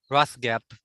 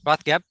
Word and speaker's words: Rothgeb: the bottom saying John Rothgeb, sorry. I don't know if I pronounced it right. You got it right the first time. Okay, Rothgeb.